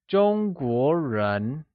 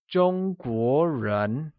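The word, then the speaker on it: 中国人: Chinese people translates to Zhōngguórén ,where Zhōngguó is pronounced with a high level tone on the first o and a mid rising tone on the second o Lets hear you say Zhōngguórén Great!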